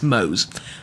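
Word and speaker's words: Moze: I keep forgetting how I pronounce my own character's name. It's Mose.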